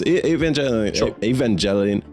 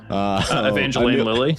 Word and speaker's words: Evangeline Lilly: Evangelion. How do you say her name? Evangeline Lilly.